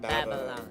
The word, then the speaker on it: Babylon: Kasi, kita mo, it's a long A, dapat Babylon.